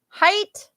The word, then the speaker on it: height: in this case and height will rhyme with white yeah oh yeah I guess it would rhyme with the it te sorry I'm a little bit messy it's a c um height sounds like white heat sounds like sheet